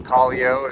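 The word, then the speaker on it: Callao: The one before it's Collio, as the locals pronounce it.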